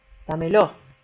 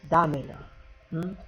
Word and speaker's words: dámelo: Una de ellas, dámelo, decimos, ¿sí? Pero es dámelo. Ojo.